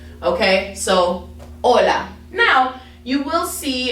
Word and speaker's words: hola: ace okay fun fact is really just a silent letter for the most part um so when you say you know that's why we say we don't say hola right we just say hola so when it's at